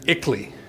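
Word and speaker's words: ICLEI: you now the second example is ickley it's spelled i-c-l-e-i it stands for the international council for local environmental initiatives ixley is a so-called non-governmental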